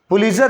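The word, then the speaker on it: Pulitzer: भी बहुत सारा लोग इसको प्रणाम करता है पुलित्जर प्राइज टीजर को साइलेंट कर देगा इसका स्पेलिंग देख लो मिट्टी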